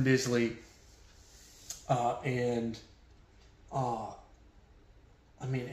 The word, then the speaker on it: Bisley: to say his name I've heard Simon Beasley pronounce his name so I'm gonna quit saying Simone basily once and for all it's it's Simon Bisley and uh I mean